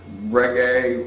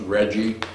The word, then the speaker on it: reggae: so we brought together reggae which of the time radio stations pronounced Reggie and this was in the 80s so people hadn't really gotten the island flavor yet so we introduced